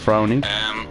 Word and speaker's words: Frowny: I called him Brownie instead of Frowny.